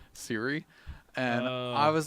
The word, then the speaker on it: Siri: Oh, because I got corrected today by somebody who was really annoyed with me because I pronounced it Suri instead of Siri.